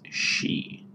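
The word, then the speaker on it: し: abnormal one um so this is not C sound C does not exist in Japanese this is she she okay but then the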